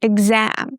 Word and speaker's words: exam: I think every single Turkish student, for some reason, mispronounces this word, exam. We stress the a sound, exam.